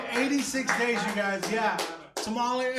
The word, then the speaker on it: tamale: days you guys yeah tamali and and I know I'm Mexican but that's how I say tamali okay I can't I can't say it properly anymore I can't even roll my RS anymore I tried to roll